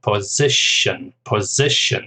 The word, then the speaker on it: position: Then job, just 1 syllable, and position, stress on the second syllable.